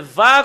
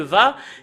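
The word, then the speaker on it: וה: Et si c'est normal, va qu'on le prononce, parce que on l'a vu dans l'hébreu ancien, le va, et c'est eux qui en ont changé en V.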